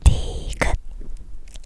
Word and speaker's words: 디귿: chứ, hãy lặp lại lần nữa 기역 니은 디귿 리을 미음 비읍 시옷 이응 지읒 치읓 키읔[ki-euk